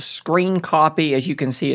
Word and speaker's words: scrcpy: method it is called screen copy as you can see it's written like this scr cpy I don't know why it's written the way but it is pronounced as screen copy and this software is